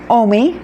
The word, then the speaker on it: Omi: The O isn't a problem in Spanish. The M-I, me, M-I is spelled me in Spanish, so O-M-I worked just great, which is so exciting